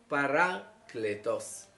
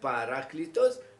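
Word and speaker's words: παράκλητος: par itos ou bien si vous voulez prononcer ça à l'érasme paracléos paraclétos d'abord disons l'interprétation du mot l'analyse excusez-moi du mot paracletos ou bien paraclitos du grec parach et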